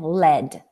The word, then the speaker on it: lead: the graphic form and now let's pronounce it this way LEED Gold is heavier than lead if you pronounce this word this way you will refer to the metal yes and for example